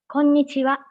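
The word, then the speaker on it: こんにちは: static excuse me yes it's more like nasal sound right japanese yeah yeah yeah it is konnichiwa all right i hope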